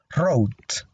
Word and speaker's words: wrote: Aquí la W no se pronuncia, así que no digan wrote, sino simplemente pronunciamos la R aquí al inicio, wrote.